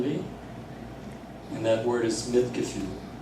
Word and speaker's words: Mitgefühl: And that word is Mitgefühl. If I pronounce the umlaut right, it's Mitgefühl, which literally means feeling with.